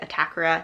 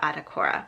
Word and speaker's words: Atakora: i saw some videos where she introduced herself and i believe she pronounces it a-fee-ah attack-ora not uh-fee-uh a-tuh-kor-uh.